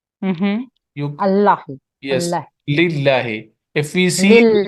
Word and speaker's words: لله: So in one case, we will pronounce it muraqqaqa, light. Mm-hmm. You Allahi. Yes, Allah. lillahi. If we see there is Lillahi.